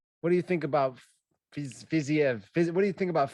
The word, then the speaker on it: Fiziev: How do you say his name? Fiziev. Hang on a second. I wrote it phonetically. Fiziev. There you go.